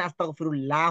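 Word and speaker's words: أستغفر الله: এটা বুঝিয়ে দিব যে আল্লাহ শব্দের আগে জবর অথবা থাকলে আল্লাহ শব্দকে মোটা করে পড়তে হয় আর মোটা থাকলে বাংলা ল এর মত হয় মুখ ভরে আওয়াজ হাসে এখানে আস্তাগফিরুল্লাহ হবে না ল হবে এটাকে বলা হয় লাহানে খফি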